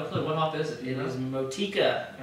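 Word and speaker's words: Motueka: Motika. I guess that's how you pronounce it.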